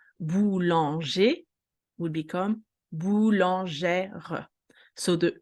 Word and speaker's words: boulangère: We have a little, specificity, which is the accent grave, which is the sound E. Boulanger will become boulangère.